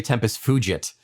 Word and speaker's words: tempus fugit: Ian pronounces Latin in the Vulgate, and I'm very happy. Oh, I'm sorry. Tempus wugit. No, but most people say tempus fugit. But with my pronunciation, it would be fugit.